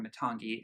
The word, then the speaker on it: Matangi: or previous record because apparently Matangi or matagi as she pronounces that Matangi in her London accent apparently aim is one